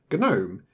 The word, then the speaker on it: GNOME: acronym of ganu as ganu is not Unix and that is why we have a hard G in Gnome it is respecting its